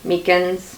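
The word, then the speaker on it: micans: the least rare the mikans meekins i've heard it pronounced both ways i'm pretty sure it's mikan's that beautiful heart leaf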